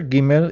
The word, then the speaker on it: Gimel: When there is an apostrophe on the letter Gimel, it's pronounced like G in George.